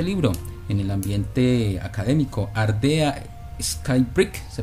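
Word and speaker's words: Ardea Skybreak: presencia de este libro en el ambiente académico ardea Sky brick se pronuncia Sí ella es la autora de de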